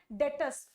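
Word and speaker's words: debt: डेट में आ जाए इसमें बी जो है डेटर्स में बी जो है ये साइलेंट है इसको क्या बोलते हैं डेटर्स ठीक है डेट में आ गए हम डी ई बी टी डेट में आना मतलब हम ऋण में आ गए हम बहुत ज्यादा कर्जे में आ गए तो बोलते क्या है डेट बी इसमें साइलेंट होता है इपोव वेरी वेरी इंपोर्टेंट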